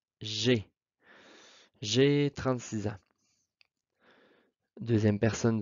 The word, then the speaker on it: j'ai: Donc, pour la première personne, moi, j'ai. Ici, très important, alors c'est une erreur qui est fréquente, là. Le AI se prononce et. J'ai.